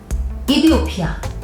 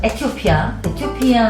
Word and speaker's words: 에티오피아: 자, 무슨 얘기냐면 현재 이디오피아, 우리나라 말이죠. 그 다음에 영어 발음 그대로 하자면 에티오피아 항공.